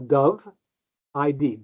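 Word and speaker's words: Dovid: Um but if the way to pronounce it, think of a white bird of peace. A dove id doveid doveid. That's the easy way to pronounce that.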